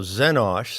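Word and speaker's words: Xenosh: that is not trustworthy now zenosh spelled with an x is my code as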